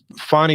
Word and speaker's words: Fani: The funny part is some people call her Fanny, but I think it's most people are pronouncing it Fani, so that's what we'll go with.